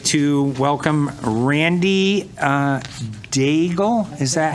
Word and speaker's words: Daigle: I'd like to welcome Randy Daigle. Is that how you pronounce it? Come on up. Welcome, Randy. Thank you very much for the invite. My name is Randy Daigle.